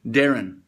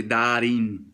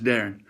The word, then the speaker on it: Darin: you say your name Darren that's how you say my name um in uh south of the boorder in Mexico they say Dar but it's Darren um Dr Dr Thomas